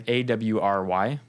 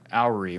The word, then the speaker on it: awry: goes awry goes wrong I had only ever read AWR Y in books so i pronounced it alary when i was at a family dinner and everybody laughed at me and it was just